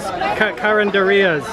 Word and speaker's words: carinderia: I love these carinderias.